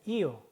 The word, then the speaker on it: io: "io", "io" 입니다 . "io" 라고 말 할 때 는 "i" 와 "o" 를 붙여서 발음 합니다 .